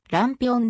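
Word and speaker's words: lampião: あだ名された大きなランプをポルトガル語で発音するとランピオンでありそれ以降ぴろ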